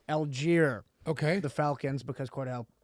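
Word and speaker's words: Allgeier: Algier, Okay.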